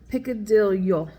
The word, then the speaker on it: picadillo: you say this and he said that when there is a Double L you you uh pronounce it as a y like a yo so piccadillo I'm probably still not